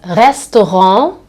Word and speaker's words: Restaurant: And another thing, this here is nasalized, okay? We don't say restaurant, we say restaurant, okay?